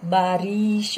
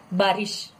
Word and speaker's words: बारिश: इसमें भी उच्चारण करते वक्त ध्यान रखिएगा, बारिश नहीं, बारिश. Okay, this is the correct pronunciation.